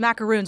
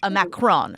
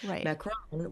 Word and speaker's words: macaron: It's just these these macaroons. Well, first, can you describe exactly what a macaroon is? A macaron.